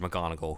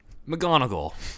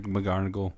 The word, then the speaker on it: McGonigal: McGonigal. Yeah. Say it Scottish is funny. McGonigal. Well, he's Sorry, American no born. offense. No offense, Mr. McGarnagle.